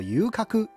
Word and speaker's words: 遊廓: 游廓的日文发音叫做 Yukaku，但是游女则要念成 Yujo。